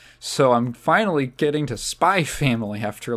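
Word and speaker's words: Spy × Family: we watched 60 of spy family spy X family is it like Hunter Hunter is it like Hunter Hunter where the x is silent supposed to say spy family um so uh yeah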